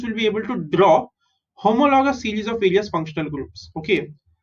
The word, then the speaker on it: homologous: are going to see homologous series. Okay, how do you pronounce this? Homologous. Okay, HO is ho, MO is mo, LO is lo, GOUS is gus. Homologous.